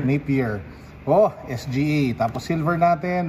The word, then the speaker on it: Napier: Nikola Vucevic, Donovan Mitchell, Josh Richardson, Shabazz na, parang pronounce yan? Napier. Napier.